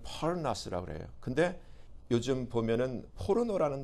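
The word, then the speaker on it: πόρνος: 근데 여기서 음행하는 자라는 단어를이 헬라어로 찾아보니까 그냥 발음하기는 포르나스라 그래요.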